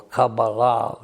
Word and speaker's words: Kabbalah: Now, in the midst of all of this, in different countries and in different ways, there developed the Kabbalah, or Cabala, which would be more the Hebrew pronunciation.